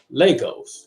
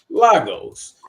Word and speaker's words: Lagos: I just found out that the way you pronounce her city which is one of the biggest cities in Nigeria is Legos I've been saying for the whole time losos which is crazy it's crazy so welcome shimmy